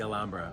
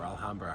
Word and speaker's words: Alhambra: guess what we just visited the alambra or alhamra however you want to pronounce it it's freaking amazing right